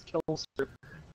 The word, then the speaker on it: Killster: Kill me left. I say his name like Normie. It sounds almost suicidal. It's Killster, not Kill Me.